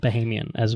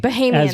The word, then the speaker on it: Bahamian: So we went to Nassau, we went to Sandals Royal Bahamian, and Bahamian, Bahamian. That's right. I've been discovered. saying it wrong my whole life. It's Bahamian, not Bahamian. Which whatever.